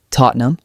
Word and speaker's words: Tottenham: For instance, T O T N E M Tottenham. The middle ham becomes N E M almost silent.